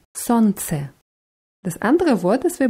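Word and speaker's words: солнце: besondere an diesem wort es wird mit einem l geschrieben smc gsl wird aber nicht ausgesprochen sonst das andere wort ist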